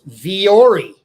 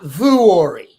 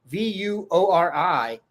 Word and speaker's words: Vuori: It's Vuori, not Vuori. Okay, I was pronouncing it wrong. Everyone's seen it. Vuori.